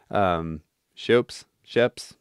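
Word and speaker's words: Schoeps: It's from Plugin Alliance, and I think Sheps is the manufacturer, but not Andrew Sheps, the one that's spelled like S-C-H-O-E-P-S. Sheps, help me out, chat.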